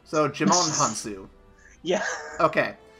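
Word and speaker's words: Djimon Hounsou: __ ] name right Digimon Han soo I'm pretty sure that the D is silent so Djimon Honsou yeah okay it's like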